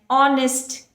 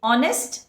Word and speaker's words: honest: about r here an honest kid honest again though it is starting with h we pronounce it with a vowel sound therefore you have to